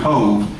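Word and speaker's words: Cobh: And 6 days later, they would be torpedoed off the coast of Cove, C-O-V-H in the Gaelic is pronounced Cove, and it is the port for Cork in the southern part of Ireland.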